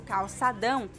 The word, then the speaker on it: calçadão: That is a little bit of a difficult sound for me, so that must be the little thing on top. So, calçadão. It's like it nasalizes it.